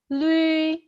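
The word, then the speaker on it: lü: Kalau U titik 2, masih ingat kan bacanya seperti bunyi kita ucapin ui, seperti kita ucapin U, langsung ganti ke I. Ui, tapi cepat. Ui, ui. terus mulutnya tuh agak kayak seperti mulut ikan.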